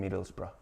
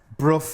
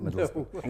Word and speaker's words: Middlesbrough: That br at the end. That's what and I can. We don't like borough. We don't like bruff and all this that the Southerners give us.